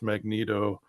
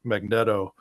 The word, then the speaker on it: Magneto: X-Men comic books and half of us would say it's Magneto, half of them would be uh Magneto. And of course, it just took forever until finally a cartoon they would pronounce it and you're like, "Oh, wow."